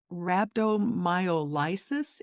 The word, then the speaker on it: rhabdomyolysis: Can you explain what rhabdomyolysis is? And I'm not even sure I'm pronouncing it right. That's the correct pronunciation, and a lot of times we just call it rhabdo.